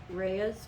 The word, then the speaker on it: Rhea's: Again, I want to say Rhea's Farm is how you pronounce it.